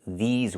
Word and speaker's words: these: for the long term, we cannot say this words. We have to say these words. We have to use the long e like green beans. I cannot use the short i like this is. I need the long e like green beans. These plus the z sound like in zebra and zipper.